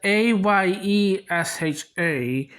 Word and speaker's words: Ayesha: There's Aisha and there's Ayesha. The AI spelling is supposed to be pronounced as Aisha, whereas the AYE spelling is supposed to be pronounced as Ayesha.